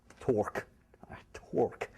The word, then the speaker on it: torque: Torque. I can't say that word. There's no R, right? Torque. How do you say it? Torque. Is anyone called Mark? No. You? Mark. Okay, never mind. 10 years and I still can't put an R and a K sound together.